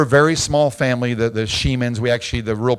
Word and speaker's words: Shemin: We're a very small family, the Shemins. We actually, the real pronunciation is Shemin, but in the South, no one could say it, so we go by Shemin.